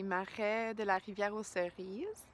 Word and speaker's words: Marais de la rivière aux cerises: Today I am back at the Marais de la rivière aux cerises. All right, I said it right the first time.